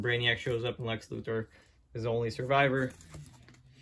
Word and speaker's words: Luthor: some people say luthor i used to say luther but then i started saying luthor because that's how they pronounce it in the game um catwoman bane